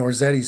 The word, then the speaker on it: Orzetti: to be Switzerland orzetti's saying my last name unfortunately rhymes with spaghetti I take my pastas